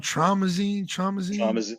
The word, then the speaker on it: Traumazine: She dropped how you pronounce that album? Traumazine.